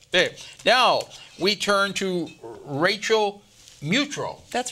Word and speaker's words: Mutrux: Now, we turn to Rachel Mutrux. That's right. I pronounced it right.